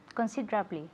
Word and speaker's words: considerably: say consider blee okay say it considerably yes considerably considerably and we emphasize just like nervous is doing the second syllable considerably again considerably look